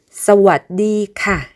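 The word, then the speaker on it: สวัสดีค่ะ: 남성은 물어보는 말, 대답하는 말 등을 구분하지 않고 크랍이라고 하는데 여성의 경우에 물어볼 때는 카 하고 음을 올려주고 대답하는 말, 설명하는 말 등에서는 카라고 음을 내려줍니다.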